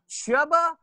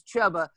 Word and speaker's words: Chuba: Next, a dark horse, if you will, a name that you haven't heard of at all, Chuba Hubbard. I believe is how you pronounce his first name, is Chuba, from Oklahoma State.